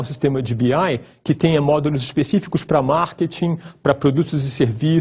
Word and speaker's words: BI: vez mais chamados de sistemas de bebê ou sistemas de bi ai usando a pronúncia do inglês sendo que biai são